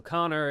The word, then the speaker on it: Connor: Phonetically, you know, O-R is Con-or, not Con-er, you know, so Connor, if you want to spell Connor, it's C-O-N-N-E-R, right? That's the one that makes sense. Why would you spell it C-O-N-N-O-R?